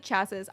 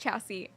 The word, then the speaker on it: chassis: know where it said chasses. I don't know what that is. I was just pretending. I don't drive. I don't know cars. Is that a car thing? It's pronounced chassis.